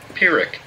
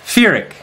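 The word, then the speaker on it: Pyrrhic: the pronunciation come on pirick pirick not an F sound it's a p sound firic puric pirick with the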